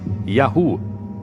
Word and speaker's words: Yahu: Segundo textos egípcios, um dos lugares onde viviam chamava-se YHW, que provavelmente pronunciava-se Yahu, o nome de seu deus patrono.